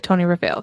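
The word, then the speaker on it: Tonyrefail: in a place called Tony rafit I'm assuming that's how you pronounce it hopefully he said in parenthesis sounds like Tony rafale so hopefully I'm correct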